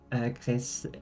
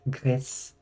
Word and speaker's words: Gris: But it's actually a Spanish game, so it's pronounced more like Gris.